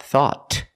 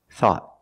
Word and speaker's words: thought: anything we found thought at the end the tongue goes up and makes a stop T not thought but thought thought I thought you